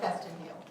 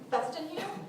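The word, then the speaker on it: Featherstonehaugh: And occasionally I'll just take a name, like Festin Hugh.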